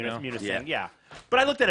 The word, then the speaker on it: Munising: How would you pronounce Munising maybe or something? I mean, Yeah, Munising. Munising, Michigan. but if I could look at that and think it said Munsing.